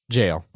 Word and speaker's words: gaol: soft margarine and gaol jail jail that's the original spelling and pronunciation of jail yeah now usually spelled